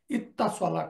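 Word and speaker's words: اتصل: যেমন ওয়াসালা ওয়াসা উচ্চারণটা এটা উচ্চারণ হওয়ার কথা ছিল ই তাসলা ইত্তালা উচ্চারণ হইতে খুব কষ্ট হয় এইজন্য এই ওয়াওটা চেঞ্জ হয়ে তা হয়ে যাওয়ার কারণে ইত্তাসালা খুব ইজি উচ্চারণ হয়ে গেছে ইত্তাসালা থেকে ইত্তাসালা টু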